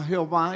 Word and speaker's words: Jehová: de dios jehová que son cuatro consonantes que no tendría como pronunciarse en nuestro idioma no hay como pronunciar cuatro consonantes por eso le agregan algunas vocales y para algunas versiones suena jehova y para otra llave y pero es el mismo nombre de cuatro consonantes y el señor dice